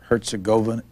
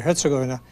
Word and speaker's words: Herzegovina: If you say, we hear people pronouncing it two ways, Herzegovina or Herzegovina, which one's Herzegovina. Right? Herzegovina. In most of these words that are Serbian or Croat, the accent is usually on the first syllable.